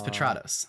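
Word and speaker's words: Petratos: my demo reels there my last name is patrados which is spelled pet rat os um so that that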